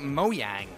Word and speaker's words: Mojang: here's Scrolls Scrolls uh Mojang or Mo moyang everyone's calling it moang I guess that's how you actually pronounce it I I I had